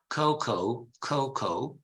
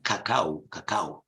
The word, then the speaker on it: cocoa: Because in Italian, Tara, it is pronounced like the South Americans, who invented this plant. Cacao. That's how the Incas called it in cacao. And in Italian, it's cacao. But in English, it's cocoa.